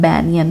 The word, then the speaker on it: banyan: इसको बनियान tree नहीं कहते हैं, इसका प्रोनाउंसिएशन बैनियन है, बैनियन ट्री यानी वट वृक्ष।